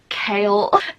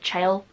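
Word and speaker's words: Chaol: like his name is kale thing is in the first book I wanted to pronounce it Chael but I knew that it was kale but part of me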